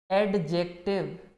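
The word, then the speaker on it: adjective: एडजेक्टिव। एडजेक्टिव नहीं है, इसको पढ़ेंगे क्या हम? एडजेक्टिव। जब भी ए और जे के बीच में डी आएगा, आप उसको पढ़ेंगे नहीं कभी, डी को प्रोनाउंस नहीं करेंगे।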